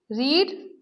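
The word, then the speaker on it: read: रीड, spelling same होती है लेकिन प्रोनाउंसिएशन डिफरेंट होती है। रीड, रेड, रेड।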